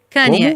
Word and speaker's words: Kanye West: Como é que se pronuncia o nome dele? Você vai perguntar pra mim? Tá, ok. Kanye, isso, Kanye.